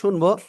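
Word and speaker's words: ش: আমরা শা শা শব্দ করে আমরা এই অক্ষরটা উচ্চারণ করব। কেমন উচ্চারণ করব বললাম? শা শা শব্দ করে আমরা এই অক্ষরটা উচ্চারণ করব। শিন, তিন আলিফ টেনে পড়বো।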